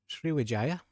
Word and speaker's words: Sriwijaya: So as you can see, we are now with Sriwijaya, and I did look up that is the correct way to say it.